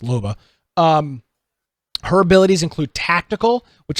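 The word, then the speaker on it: Loba: a lob MOBA baba anova i would be pronounced Luba her abilities include tactical which allows you to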